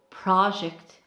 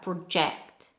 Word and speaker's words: project: difference on pronunciation it's project and project so the first syllable for nouns is longer and for verbs is the second syllable which is longer and longer the last